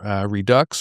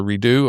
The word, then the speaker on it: Redux: So once a week, Americanism Redux or Redo, R-E-D-U-X, you pick your pronunciation.